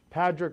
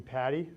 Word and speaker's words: Padric: Sure, it's Padric. A lot of people call me Patty, and if you're from Ireland, you'd call me. So I got a couple different pronunciations.